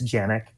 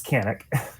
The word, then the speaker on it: Canik: America just like canic technically in Turkish it's janic but in the US we're here to sell guns not correct people's grammar so like a c all right it's canic people know what you're talking about typically exactly